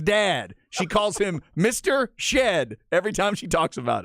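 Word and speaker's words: Shead: the national folks go back to saying Jamal Sheed let's uh let's get it figured out shed is his name he is a badass on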